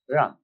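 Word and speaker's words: 仁: Although, when we Romanize this word in English, we spell it J-E-N, it's pronounced Ren. Sort of like rolling an R, or rather saying R but not rolling.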